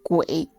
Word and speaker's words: Guo: And the most creepy part is, locals pronounce Guo as Gui, which sounds like the word for ghost.